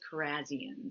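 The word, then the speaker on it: Kharrazian: I would say it actually is Carzian.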